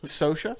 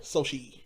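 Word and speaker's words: Xochitl: It starts with an X. Sosha? Sochi. So she. Yeah. So it's like Sophie, but Sochi.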